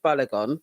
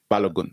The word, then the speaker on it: Balogun: a nine-year-old called David balagon becomes one of the youngest ever school graduates David what balagon balogun balogun balogun balogun is that how you pronounce it yes okay sorry to